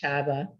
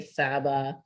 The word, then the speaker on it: Csaba: that i've never quite yeah csaba is uh pronounced chava but you know if you say saba you know it'll it sort of works too